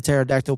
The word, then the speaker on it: pterodactyl: can't you hear a pterodactyl P oh no because the p is silent yeah there you go